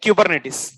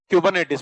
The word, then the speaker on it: Kubernetes: okay sir but why kubernetes docker is used to create containers okay I'll